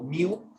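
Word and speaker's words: μ: Y se utiliza esta, la puedes pronunciar como miu o mu, dependiendo si quieres sonar como gato o vaca.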